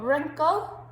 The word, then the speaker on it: wrinkle: to learn then we've got wrinkle so think about the silent letter on that that's just the silent w same with right then